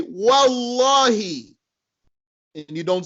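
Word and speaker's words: والله: Russell you go right through it you'll say wallahi and you don't say what Allah he because it's not a Hamza to Cutler Hamza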